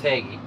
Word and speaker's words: Hagie: So I got Kevin here with Hagie.